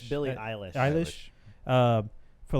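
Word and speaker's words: Billie Eilish: yeah ASA you know Billie Elish wait pronounce it right it's Billy a list I wish for like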